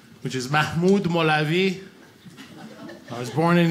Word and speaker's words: Mahmoud: where i live in the south they can't pronounce my real name which is mahmoud molavi i was born in iran and that's